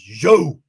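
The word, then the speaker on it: Zhou: And then Alfa Romeo is Joe. That's almost pronounced the same way as my first name, Joe.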